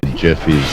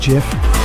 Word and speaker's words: GIF: gifts this is and he did actually say that it's pronounced jiff I'm but I'm sorry